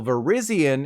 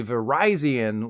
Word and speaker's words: Virizion: Cobalion is actually Cobalion, while Virizion is actually Virizion, like the phone company.